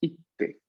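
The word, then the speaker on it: 行って: La Q se cae, pero ponemos un pequeño tsu y la sílaba T, ¿no? Y decimos ite, ite.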